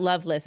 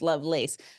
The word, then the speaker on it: Lovelace: It's not Loveless, it's Lovelace. But Mhm.